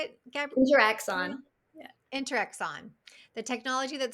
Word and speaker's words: InteraXon: InteraXon.